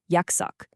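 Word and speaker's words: 약석: Yaksuk, pronounced Yaksuk, literally medicine and stone.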